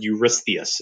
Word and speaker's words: Eurystheus: That is a really difficult name to spell because it comes from Greek. The vowels got shifted around a lot. But Eurystheus is how we pronounce that.